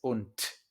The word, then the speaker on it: und: Esto lo vamos a ver muchas veces, pero una D al final de una palabra o de una sílaba en alemán se pronuncia como una T, ¿vale? Entonces no es und, es und.